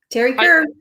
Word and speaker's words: Teri Kerr: Teri Kerr.